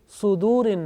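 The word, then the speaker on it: صدور: Now this sad, sometimes pronounced unintentionally with fatha, like yuwaswisu fi sudurin nas. So make sure that this sad, whenever you teach to others, this sad with dhamma. Okay? So it means sudurin nas.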